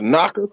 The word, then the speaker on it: NACA: The knocker, I don't know if anybody heard about the NACA program. so spell it NACA, knocker like NACA, all right, NACA.